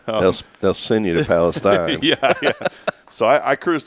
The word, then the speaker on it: Palestine: either Palestine is that how you it's not Palestine it's Palestine right yeah it's two different places you better